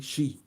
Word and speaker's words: Xia: The first two dynasties in China was the Xia dynasty, Xia, Shi. It's spelled Xia, but you say it as Shi.